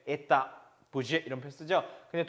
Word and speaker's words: Etat: budget 하는 건 영어식이고 원래는 budget라고 읽어줘야 되고 이것도 끝에 T가 발음 나지 않아서 돼야 etta. 그냥 etta. etat가 아니고 etta.